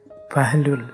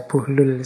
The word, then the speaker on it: Bahlul: ini ada yang membacanya bahlul ada yang membacanya bullul saya milih Membaca buhlul saja ya jadi beliau ini